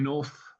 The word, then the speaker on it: North: Um, got Ollie North. Uh, Oliver North, I think he's long Oliver Thor. It rhymes with North. Um, but doesn't rhyme with Nicaragua.